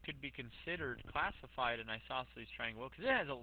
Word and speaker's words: isosceles: look at this guy and isosceles triangle or Die sassily is isosceles if you ever need to spell it pronounced that isosceles it's actually pronounced isosceles but that's an easy way to remember that